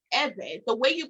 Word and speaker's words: Ewe: uh it is pronounced eva the way you pronounce the name uh you purse your lips you and you blow air while creating a vibration sound so it sounds like